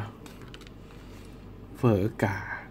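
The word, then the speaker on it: Phở gà: ฮะ เฝอ กา เฮะ ถ้า อ่าน ออก เสียง แบบ เวียดนาม จริง เ อ่าน ไม่ แค่ เฝอ อย่าง เดียว นะ เฝอ เฝอ อะไ อย่าง เงี้ย ออก จะ มี เสียง ม้วน ลิ้น ด้วย อ ก็ ใช้ ได้ ครับ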